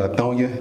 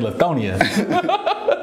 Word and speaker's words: Lithonia: i first moved to latonya we moved to rockdale county latonya that's crazy yeah i'll say it oh yeah i've been saying it wrong this whole time so i've been saying lithonia so in rockdale county